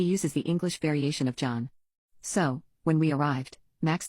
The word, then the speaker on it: John: John then said that he goes by John, not Jan.